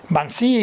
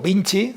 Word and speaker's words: Vinci: han sometido a votación van si o vinci depende de cómo se quiera pronunciar el gran concesionario no solo